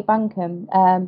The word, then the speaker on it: Bunkham: it's quite a British name I think Buncombe but yeah you've got it it's all good